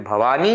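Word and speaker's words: भवानी: That's why sometimes those people, Bhavani, instead of Bhavani, they do Bhavami. It's not Bhavami, it is Bhavani Sahitam.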